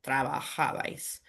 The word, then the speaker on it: trabajabais: like other verbs, but the reason there's no tilde in trabajabais is because the natural emphasis lands on the second to last syllable Okay. there. So trabajabais.